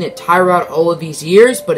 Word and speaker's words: Tyrod: Mathias Fairley rejected, but Bryant Poole and Tyrod Taylor accepted. Yes, I just said Tyrod Taylor. If you did not know, that is how he actually pronounces his name. We've been pronouncing it Tyrod all of these years, but it's actually Tyrod.